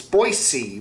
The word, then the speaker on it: Boise: he pronounces boise right it's boise with a sound not a z sound anyway uh we got